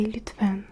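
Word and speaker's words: lütfen: C'est Lutvan. Lutvan. Lutfan. Lutvan. C'est s'il te plaît. S'il te plaît, il est Ça s'écrit L U T F e et N.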